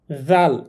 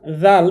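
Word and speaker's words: ذال: উপরে থাকলে হয়ে যাবে জাল জাল এই হরফটি নরম করে পড়তে হবে যেভাবে আমরা সা উচ্চারণ করেছিলাম এখানে দেখুন লেখা আছে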